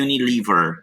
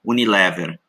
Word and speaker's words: Unilever: o case study da Unilever consolidated Financial statements Unilever group então demonstrações financeiras consolidadas porque consolida todas as empresas do grupo Unilever group lembre-se que em inglês a pronúncia é Unilever não Unilever é algo que parece